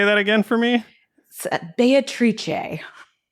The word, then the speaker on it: Beatrice: like beatrice right like b-e-a-t-r-i-c-e you pronounce it yeah can you say that again for me beatrice beatrice in the old and current italian okay yeah you wouldn't